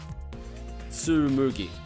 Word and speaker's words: Tsumugi: to move your left to use the restroom tsumugi yeah that's how you pronounce it the restroom huh interesting so we've